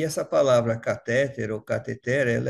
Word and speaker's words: cateter: de de de se falar é cateter e não catéter Então seria transcateter né ou cateter por quê essa palavra ela se origina do grego e lá no grego ela tem acento na última sílaba veja aqui k a t h e t e r com acento na última sílaba desse modo cateter é uma palavra ox e o significado é